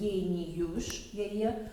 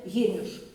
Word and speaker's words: Геніуш: А мені заблитало, ось це, як вимовляють Геніюш, так я не асоціація, ось це у мене, у нас на нашій родині з одного боку і з другого боку межі, але Геніуш. Не Геніюш, а Геніуш.